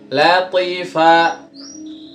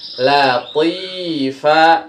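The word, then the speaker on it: لطيفة: Latifa. Salah ya. Lihat, kasroh di to, depannya ada apa? Oke, ada iya, berarti panjang dia, 2 harokat. Latifa, kayak gitu ya.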